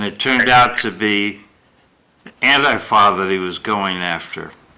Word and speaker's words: Antifa: I'm going with the uh uh Laura Ingram pronunciation. Oh, Auntie Fa. Well, Auntie Fa sounds like my auntie Fa, you know, a u n t i e fa f a.